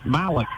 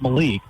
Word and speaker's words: Malik: I was mispronouncing his name in the first quarter. It's Malik, not Malik.